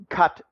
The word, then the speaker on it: Qatar: arab oil monarchy it's they pronounce their country cut qatar i pronounce it qatar forgive me I've just always called it Qatar anyway the Qataris 18